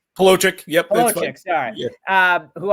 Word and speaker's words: Palochik: Did I pronounce that right? Palochik? Palochik.